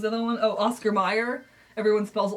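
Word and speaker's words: Mayer: So it's Oscar Mayor. I mean, it's Oscar Meyer, but it's it's spelled like mayor for some reason.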